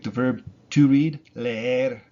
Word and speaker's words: leer: It's e, leer, leer. It's not le, er, even though there's two e's in it. Le, er. No, it's leer, leer. You do kind of notice a difference between le and er, but they're just put together, leer.